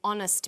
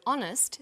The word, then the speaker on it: honest: happy man but an honest man the H is not pronounced so honest sounds like it starts with a vowel and where the value